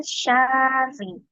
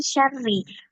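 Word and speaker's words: شَرِّ: Di bacaan syarri. Kenapa? Karena dibacanya panjang. Harusnya itu langsung masuk ke sukun.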